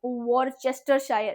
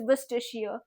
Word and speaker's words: Worcestershire: एलनी मिठला है Mithila right it इज़ नॉट वॉर चेस्टर शायर इट इज़ विस्टिशियर से it like that you know you नाउ